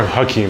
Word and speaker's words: Akim: Hakim. Hakim. Yeah. Hakim or Hakim? Hakim, but it's spelled A-K-I-M.